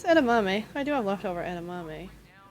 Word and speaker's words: edamame: I may have butchered that. No, it's edamame.